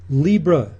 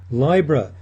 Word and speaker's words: Libra: Hello, our topic is the zodiac sign Libra, or some people pronounce it Libra, the sign of the balance.